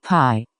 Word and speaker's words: pi: by 27, where z is a Greek letter, pronounced pi, and is a symbol whose approximate value is 3 and 1/7.